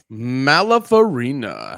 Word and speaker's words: Malafarina: I don't know how to say your last name, so I'm not even going to pronounce it. Malapharina.